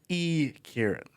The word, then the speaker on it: Yi-Kieran: E. Kieran. That's how you pronounce that last name too.